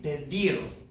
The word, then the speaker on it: pedir: This verb would normally be pedir. Pedir. Because it ends in a consonant, it's not N or S, that natural stress comes on the last syllable of this verb. Pedir. It's not pedir, but pedir.